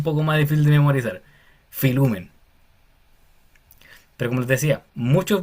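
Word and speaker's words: φιλοῦμεν: Aquí pasa algo interesante porque la palabra queda como filumen. Filumen, porque la o con la u se pronuncia como u, como les dije anteriormente, filen.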